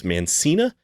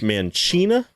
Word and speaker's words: Mancina: Mark, man, I always used to think his name was Mancina, but there is a Speed podcast I've been listening to, and apparently it is pronounced Mancina.